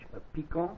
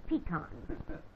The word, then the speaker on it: Peacock: pronunciation of your name is it the french a pico oh no that's much too saucy it's just plain pecan and and how do